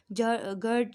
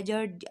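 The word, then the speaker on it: GERD: तो एक्लेजिया और गर्ड या जर्ड जैसा आप लोग प्रोनाउंस करें वो एक दूसरे से बिल्कुल अलग है।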